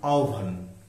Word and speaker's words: আহ্বান: ইকার রসইকার হয়েছে তীব্র তারপরে হ এর সাথে যখন ব থাকবে যুক্তবর্ণ তখন এটাকে ওভা যেমন জিহ্বা জিওভা আহ্বান আহান তো এখানে যখন হ